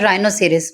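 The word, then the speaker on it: rhinoceros: Next है राइनोसिरस, राइनोसिरस में क्या है, आर है पहले, इसलिए हमने एच को साइलेंट कर दिया।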